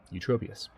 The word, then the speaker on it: Eutropius: Arcadius is the father of the current emperor, Eutropius, who I still feel like I'm mispronouncing his name every time I say Eutropius. But I'm not. That's his name, Eutropius.